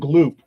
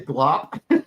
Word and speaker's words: Gloop: it was Gleep and Gloop. Gleep and Gloop. What I say, Glop? Yeah, Gleep and Glop. It was Gleep and Gloop. Yes, you're correct.